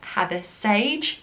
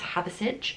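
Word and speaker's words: Hathersage: called had a sage I was calling it had this Sage but it that's how it spelled but it's not it's havasich that's how the locals say it and it's the place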